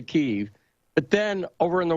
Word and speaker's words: Kyiv: So there's Kiev, right? The Ukrainians like to say Kyiv.